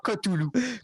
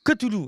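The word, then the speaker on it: Cthulhu: stulu ou Toulou Koulou on prononce kitari non c'est non honnêement tu l' pas eu une fois c'est c'est vraiment cotoulou cotoulou ok donc l'appel de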